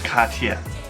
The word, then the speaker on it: Cartier: probably say Cartier but the real pronunciation again is the French Katya Katya you Gigi nope ugh